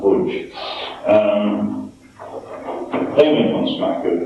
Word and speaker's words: Łódź: a city called Łódź, which is called Lodz, but it's pronounced Łódź.